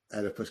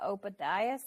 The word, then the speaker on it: Oedipus: My brother calls it the Ophidius complex, and I don't have the heart to correct him.